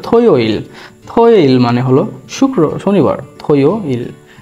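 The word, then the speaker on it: 토요일: তো জুমাল আছে কি কি দেখি, যেমন শনিবার থো ইয়োইল, থো ইয়োইল, উচ্চারণ হবে থয়োইল, থয়োইল মানে হলো শনিবার, থয়োইল।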